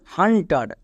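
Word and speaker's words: hunter: কয়েকটি এক্সাম্পল দেখো যেমন হান্টার এবার এখানেও দেখো ইউ এর জন্য আমি এখানে আকার উচ্চারণ করছি কেন কারণ ইউ এর পরে দেখো পরে মানে ডান পাশে এন কনসোনেন্ট আবার টি কনসোনেন্ট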